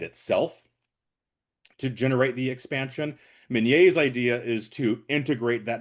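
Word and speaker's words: Minié: Let me pull up his, let me pull up his name so I don't get his name wrong. Claude Etienne Minier, Minier, yep.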